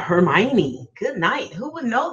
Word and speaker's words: Hermione: the world knows that it looked like her Moines or whatever her morning so yeah Hermione good night who would